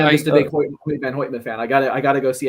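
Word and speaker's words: Hoyte van Hoytema: I mean, it's kind of Hoity, hoity, pronounced like hoit.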